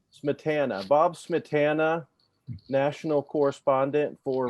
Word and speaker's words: Smietana: I always say Bob, how do you say your last name? Smetana? Smetana. Smetana.